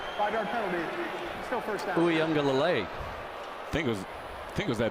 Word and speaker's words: Uiagalelei: Uiagalelei. I think it was that motion that got him. Oh, nice pronunciation there, too.